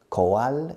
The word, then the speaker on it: coal: Coal escrito. Pronunciation? Coal. It's like cold without the D.